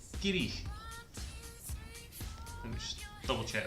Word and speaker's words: Garioch: Number 4 is Garioch, sort of Garioch, if you like, but in Scottish it's pronounced Girich. Let me just double check that. Girich.